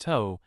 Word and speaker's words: โต๊ะ: The word โต๊ะ meaning table is pronounced toe, similar to the start of total.